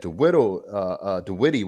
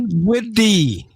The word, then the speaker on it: Dinwiddie: we put a post up earlier today that DeWitty, whatever his name is, The Whittle? DeWittle, Who? DeWitty, the DeWando, whatever. Did Witty. Dinwiddie.